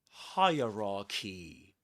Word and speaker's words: hierarchy: Three parts which rhyme with higher key.